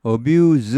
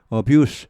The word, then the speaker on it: abuse: abuse 하면은 동사가 됩니다. 남용하다, 뭐 학대하다, 오용하다 이런 말이고 abuse 명사가 되면은 이게 무성음이 되죠. 발음이 그러니까 좀 가벼워집니다. 동사는 발음이 좀 무겁습니다. 뒤쪽이 항상 abuse 이렇게 하죠.